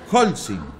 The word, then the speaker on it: Holcim: Holcim. Holcim. Holcim, sin palito. ¿No? Pero acentuado. Y se pronuncia Holcim, Holcim, con acento en la O.